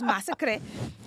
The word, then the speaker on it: Massacre: have it, Madame Massacre, it's spelled massacre, but it's Massacre.